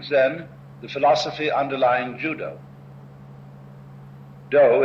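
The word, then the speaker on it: dō: the philosophy underlying Judo do is the Japanese way of pronouncing the Chinese word da da meaning as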